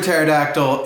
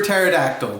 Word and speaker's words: pterodactyl: words in the book all you have to do is drop that silent pesky first letter and sound out the rest of the word and you'll know exactly how it is pronounced so let's get started